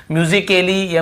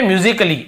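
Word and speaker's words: musical: एक और है क्या म्यूजिक के लिए म्यूजिकल या म्यूजिक काली ऐसे हो रहा है क्या नहीं हो रहा है ना तो ये समझने वाली बात है तो ये म्यूजिकल ऐसे बोलते हैं म्यूजिकल तो यहां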